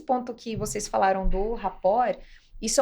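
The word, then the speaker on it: rapport: eu convido os os ouvintes a colocarem Obama raport rapor se escreve r a p o r RT rapor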